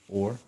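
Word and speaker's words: אור: Or.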